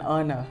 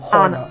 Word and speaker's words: honor: to say yes because letter H in that word is silent and that's why you say it's an honor aha it's an honor not a honor okay